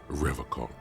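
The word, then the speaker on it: Revachol: stay strong for Revol he pronounces Revol with a hard K unlike other people uh well I should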